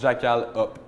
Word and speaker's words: Jackalhop: Là, en fait, ça se prononce Jackal Up. OK. Up comme houblon en anglais.